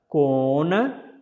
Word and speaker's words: Kona: Baddha Kona. Actually, this Na is not pronounced as a Na. This will be originally Na.